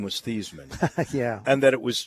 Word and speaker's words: Theismann: I said, "It's Thiesman." He said, "No, it's pronounced Theismann." I said, "No, it's not. It's pronounced Thiesman." He said, "No, Joe, your last name is pronounced Theismann."